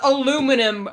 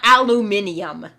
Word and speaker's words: aluminum: But, it's pronounced aluminum, Britain, not aluminium. It's pronounced aluminum. We say so.